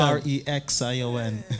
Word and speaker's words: Korexsion: They have to make a correction to get correction. Korexsion.